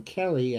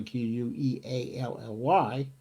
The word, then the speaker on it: Queally: There was an article that appeared in Common Dreams by John Kelly. I think it's pronounced Kelly, Queally.